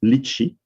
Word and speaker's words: lychee: i will say is lichi which is a french pronunciation but we really don't